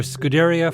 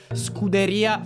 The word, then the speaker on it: Scuderia: of fan development for Scuderia Ferrari HP. Your pronunciation is is strongly American. It's more Scuderia Ferrari. I'm still working on rolling my Rs.